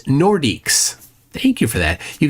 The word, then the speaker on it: Nordiques: Veganux says it's pronounced Nordiques.